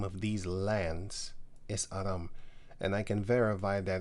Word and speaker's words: Aram: The people we Greeks call Syriac, they themselves call themselves Aram, or Arameans in English, but it's actually Aram.